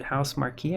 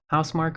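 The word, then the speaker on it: Housemarque: This I was this by um the dev house marquee, I think. Yeah, house housemark or house marquee. I've heard it pronounced both ways and it's been a while since I heard it pronounced like in voice.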